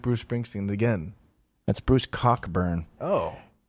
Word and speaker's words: Bruce Cockburn: That's Bruce Cockburn. Oh.